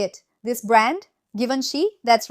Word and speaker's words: Givenchy: Givenchy?